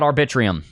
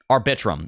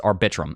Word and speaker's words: Arbitrum: very good things about arbitrium arbitrum I'm sorry I keep saying arbitrium is arbitrum I don't know why